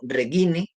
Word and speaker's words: Reghini: Ese personaje es Arturo Regini, creo que se pronuncia Arturo Regini, puesto que el apellido se escribe Reghini, is latinas, por supuesto.